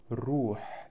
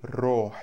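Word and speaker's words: روح: дальше дальше у нас слово рух или рох через о тоже произносят в разговоре речи ничего страшного Это Душа рохи моя Душа ро И то и другое можно через о или через у значит рохи моя душа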